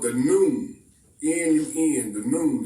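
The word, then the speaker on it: Nun: The Egyptian sciences tell us that everything that exists came forth from something called the noon, N-U-N, the noon. It's pronounced just like noontime, and it's a reason for that.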